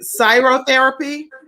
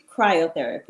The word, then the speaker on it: cryotherapy: the this is it cyrotherapy cryotherapy right i said it right last night cryotherapy cryotherapy